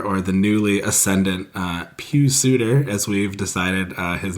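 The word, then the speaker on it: Pius Suter: with Kane or or the newly ascendant uh Pew Suitor as we've decided uh his name is pronounced yeah that could be worth a look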